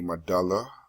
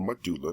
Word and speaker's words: medulla: And then there's actually a medulla or medulla depending on who's pronouncing it abangada that functions with the heartbeat and respiration.